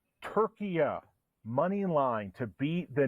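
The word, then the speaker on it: Türkiye: for us uh Julio I think we're pronouncing them turkia now turkia money line to beat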